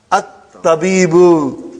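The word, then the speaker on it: الطبيب: Why you did not pronounce Hamza? You pronounce Hamza in the beginning. At-tabibu you pronounce. And now you are not pronouncing it. Why? Because they are Hamzatul Wasal. If it comes in the beginning of the sentence, you pronounce it. And then if something comes in front of it, you don't pronounce.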